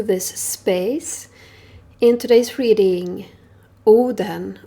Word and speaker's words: Odin: In today's reading, Oden, or Odin as you would pronounce it in English, has some work for you to attend to.